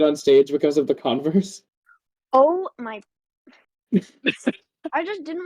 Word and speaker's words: Converse: Yeah, because Converse Well, is spelled Converse is the brand. CONVERSE, like And- universe, but Converse.